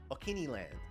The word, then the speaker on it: Okiniland: Okay, the other one that I've been using recently is Okiniland. So, wait, is that how you say it?